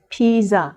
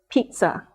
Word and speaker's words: pizza: characteristics one tricky spelling many people mispronounce this word as Pisa because of its spelling but the correct pronunciation is pizza Pizza if you look